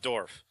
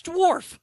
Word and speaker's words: dwarf: I just call it Dorf. So, Stephen Dorf, the actor, is this a language mangler or is it just a stupid pronunciation? Yeah, that's not, you're not really mangling it. Dwarf? Okay. It's Dwarf.